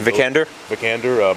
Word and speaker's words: Vikander: Vikander, Michael Fassbender's wife.